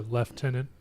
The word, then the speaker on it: lieutenant: mention rank I'm sorry lieutenant okay or leftenant preferred term now that's how we pronounce that I don't know what